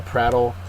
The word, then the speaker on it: prattle: and a noun uh prattle also has the first syllable accented uh the verb to